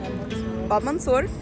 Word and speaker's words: Bab Mansour: It is this thing, Bab Mansour.